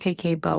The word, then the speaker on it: Kakeibo: KBO, pronounced KK Bo, is more than just a budgeting technique.